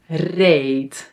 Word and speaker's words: reed: man maan, ram raam and then e ee pet beet red reed When a word ends on a d, we pronounce it as a t by the way. red reed.